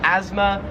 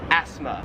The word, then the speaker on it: asthma: want to call it in America we call it asthma and in Australia it's pronounced asthma we kind of say it more like a z sound like asthma where here it's more like a like an S sound like 13 is this plant